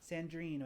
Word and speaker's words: Sandrine: Pronounce it right? Sandream. Sandrine with an N.